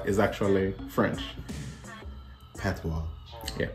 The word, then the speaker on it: patois: French yeah cuz the word p how you pronounce it P is actually French pwa yeah pwa we so so we say it like p